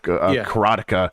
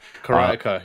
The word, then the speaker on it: Karateka: I'm playing the hell out of the making of Karateka. Karateka, yeah. Yes, although apparently Jordan Mechner says Karateka. I said Karateka the first time I was talking about this.